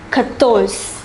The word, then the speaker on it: quatorze: The number 14 is pronounced quatorze, quatorze.